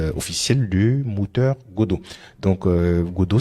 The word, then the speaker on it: Godot: de moteur Godo donc Godo ça s'écrit comme ça g d o T et c'est un moteur